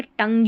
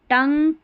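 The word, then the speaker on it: tongue: जी यू ई ग यहां देखिए टंग यू नहीं पढ़ेंगे जैसे डायलॉग यू पढ़ दें अगर नियम नहीं पता होगा तो कैटलॉग यू पढ़ दें ग्यू करके पढ़ दें नहीं ग हो जाएगा जी यू ई किसी भी स्पेलिंग के आख आखिर में आता है तो इसको ग पढ़ते हैं। टंग डायलॉग कैटलॉग ये स्पेलिंग्स हैं।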